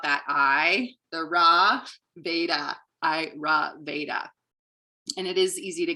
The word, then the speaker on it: Ayurveda: word is a sanskrit word and how it's pronounced how i remember it is i ra veda so i ra veda you can repeat it